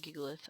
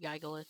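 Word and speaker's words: Gigalith: And I've never really looked up the full actual pronunciation, but most of the time I hear people pronounce it giggleith. I don't think I've ever heard anyone else pronounce it Giggalith except for his friends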